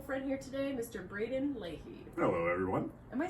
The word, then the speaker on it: Leahy: have my wonderful friend here today mr braden leahy hello everyone am i saying your name right you aren't saying you're the only one who says my last name right it's because of mr leahy every time i can't say it wrong yeah